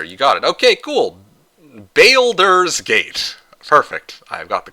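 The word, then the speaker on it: Baldur's Gate: Balers Gate. Perfect. I've got the correct pronunciation. Balders's Gate.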